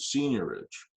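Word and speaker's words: seigniorage: you might want to charge something that's called senior ridge i'll spell that for you i think i got it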